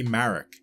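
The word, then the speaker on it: Maruk: Marek, spelled M-A-R-U-K, but I would pronounce it the same way I would pronounce Galen Marek's name, spelled M-A-R-E-K.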